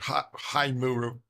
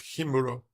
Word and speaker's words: Himuro: the same thing like if you are an American you would read High Muro High Muro instead of himuro because most words in